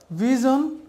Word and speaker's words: vision: হয়তো আপনি সঠিক উচ্চারণ পাবেন তবে একেবারে অ্যাকুরেট উচ্চারণটা হচ্ছে SION জোন confusion ডিসিশন conclusion word জোন ভি জোন lollipop word জোন ended word জোন প্রিয় শিক্ষার্থীরা